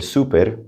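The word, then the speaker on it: súper: And you could just say el super with a little accent on the U.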